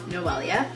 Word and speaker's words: Noelia: If you don't know how to say my name, it is Noelia.